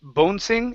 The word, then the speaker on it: bouncing: good job okay uh this vowel sound in the middle is pronounced ow instead of bouncing it's bow bouncing bouncing